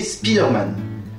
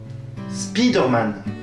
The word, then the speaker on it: Spider-Man: En effet, pour Iron Man, le I garde une prononciation assez proche de celle de l'anglais. Par contre, pour Spider-Man, le I se fait carrément franciser.